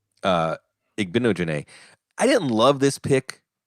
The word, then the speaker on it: Igbinoghene: Scott Wright, our old friend, does the pronunciation guide. Igbinoghene. Igbinoghene.